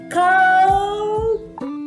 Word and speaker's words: cold: Clima frio, frio, clima frio, cold. Olha que tem um Lzinho na pronúncia tremendo, ó. Presta atenção, não é cold weather, é cold, o L treme, cold weather, cold weather, clima frio ou tempo frio, cold weather.